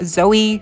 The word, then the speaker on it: Zooey: Zoe's voice and uh now we know how to pronounce her name Zoe so it's not you know uh like so there's no like elongated oh it's just a Zoe like normal honestly so okay not